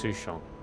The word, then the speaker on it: Sushang: just transferred here from the Yao ching I pronounce it it's sushon native I did tell you to let me